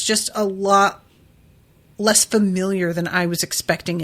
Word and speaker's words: Lud: used to call me rhymes with mud also thud blood crud dud and cud yeah that's a terrible